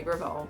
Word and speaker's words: Gravel: It's at Gravel, and then Gravel, spelled like gravel, Gravel.